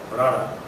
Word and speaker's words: Bharara: Their names, by the way, don't sound like Bharara. For you Punjabis, that's how you pronounce my name.